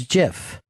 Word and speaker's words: GIF: me listen up music it's pronounced jiff not come back you